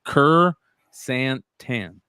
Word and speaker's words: chrysanthemum: He said it's chrysanthemum.